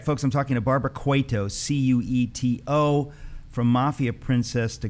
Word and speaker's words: Cueto: princess to gods princess barbara cueto am i pronouncing that correctly actually it's quetto quito but you're good we usually get cuerpo